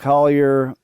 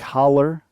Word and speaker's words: Holler: and a touchdown uh alec collier had holler alec holler excuse me i said it wrong aren't you gonna say